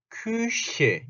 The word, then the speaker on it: Küche: 그러니까 으, 다시 한번 위가 아니고 그래서 여기서 큐죠. 퀴가 아니죠. 큐쉐 요렇게 큐쉐 큐쉐 큐쉐 큐쉐 요렇게 자 요거하고 그런 거 있죠.